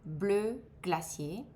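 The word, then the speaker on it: bleu glacier: Blue glacier.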